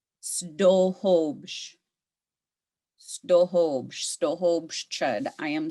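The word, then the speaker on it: sduhubš: Snohobsh. Snohobsh.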